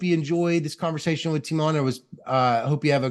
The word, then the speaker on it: Tymon: First name would be more like Tymon. Tymon.